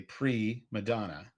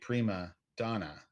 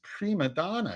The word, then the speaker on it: prima donna: In a conversation with Roy, he hears Roy say pre Madonna instead of saying prima donna, which is how the phrase is actually pronounced.